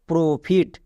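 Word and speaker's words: profit: পুরো টা কি দাঁড়াচ্ছে প্রো ফিট তাহলে আমরা যদি এই ট্রিক্সটা না জানতাম তাহলে ও এর জন্য ওকার পড়তাম আর তখনই আমাদের উচ্চারণ করতে ভুল হতো চলো এবার নেক্সট এক্সাম্পল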